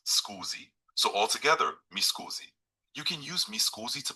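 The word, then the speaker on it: Mi scusi: excuse me formally in Italian you can say misoozie. Here's how you pronounce it. Me pronounced schoozy. So altogether misoozie.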